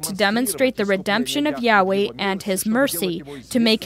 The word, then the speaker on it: Yahweh: And so Jehovah, that they also say Jehovah, the name Jehovah, is also an incorrect pronunciation of Yahweh.